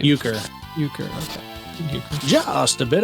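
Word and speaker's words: Uecker: eer how do you say his name uker uker okay uker just a bit outside yeah cuz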